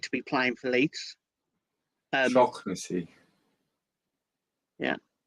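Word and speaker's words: Shaughnessy: Shocknessy. Yeah. I only heard because Jer's Irish. And he pronounced it properly the other day for everybody. Shocknessy.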